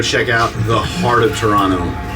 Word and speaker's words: Toronto: have dinner and oversee Toronto. Toronto? Toronto. So Toronto. yeah, that's how you say it. Not Toronto. Just ignore the second T. It's just one T. Yeah, Toronto. just replace it with an N.